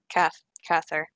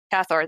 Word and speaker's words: Cathor: Anyways, first, Anna is going to go look for Kather. Okay, I missed her name. Cathor, thank you. That's how you pronounce it.